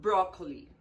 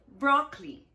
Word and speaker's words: broccoli: That's not broccoli. That's broccoli. Broccoli. Only two syllables. You have to ignore the letter O.